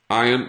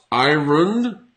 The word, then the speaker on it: iron: Some people pronounce it with the R, but I personally would not pronounce this with the R.